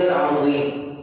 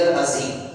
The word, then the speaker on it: العظیم: دی کہ سبحان ربی العظیم، یہ درست تلفظ ہے، اس کے اندر سیٹی کی آواز نہیں آنی چاہیے۔ بعض پڑھتے ہیں سبحان ربی العظیم، عظیم پڑھتے ہیں، عظیم کے معنی کچھ